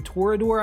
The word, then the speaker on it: Torodor: Torodor, I think is how you say it.